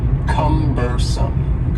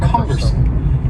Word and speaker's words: cumbersome: next word is cumbersome the word cumbersome has three syllables and the stress is on the first syllable cumbersome cumbersome and something that is